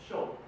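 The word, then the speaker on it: ショート: We also pronounce shortstop as shoto, which is the pronunciation comes from Japanese.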